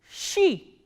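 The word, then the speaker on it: щи: The words that we are going to learn from this letter is she, sh and e, she.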